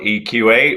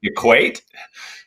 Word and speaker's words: eQ8: most people call it eqa we're happy with that um we we designed it to be equate to bring supply and demand to equivalence but eqa